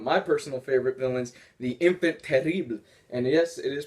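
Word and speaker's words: Enfant Terrible: getting one of my personal favorite villains the infant terrible and yes it is pronounced like that by the way you are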